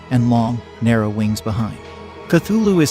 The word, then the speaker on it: Cthulhu: transcribed the pronunciation of cthulhu as k h lol feet h lu and said the first syllable pronounced gutturally and very thickly the u is about like that in full and the first syllable